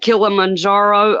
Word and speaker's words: Kilimanjaro: it yep you said it right Paige Mount Kilimanjaro over in Japan has erupt him once again